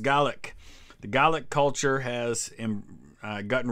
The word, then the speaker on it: Gaelic: Oh, the Gaelic culture, Gaelic, in Scotland it's pronounced Gaelic.